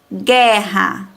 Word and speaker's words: guerra: prestem atenção é que quando pronunciamos é a sílaba g hough não pronunciamos a vogal um tá a professora que difícil ainda não compreende então vamos ler com calma as palavras guerra e parem bem guerra não aparece a vogal u aparece praticamente só a vogal é guerra mas se não tivesse